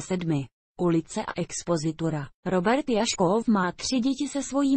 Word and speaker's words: Jašków: Robert Jaškov má tři děti se svojí manželkou herečkou Petrou Bartošovou Jaškovovou. Má původem polské jméno, které se vyslovuje Jaškův.